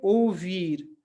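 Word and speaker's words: ouvir: इसको ओ नहीं पढ़ना है, इस दोनों मिलकर, ये दोनों मिलकर क्या बन जाते हैं, एक आवाज बन जाते हैं, एक उच्चारण बन जाते हैं, और वो है ओ। तो हम इसको क्या पढ़ेंगे, ओ वीर। इसको ओ वीर नहीं, ओ वीर। ठीक है, ओ वीर।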